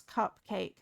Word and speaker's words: cupcake: At least you didn't pronounce cupcake the way Mini Lilo did. There's that. That's it. Cupcake. Remember the p sound and not the nt sound when saying that word.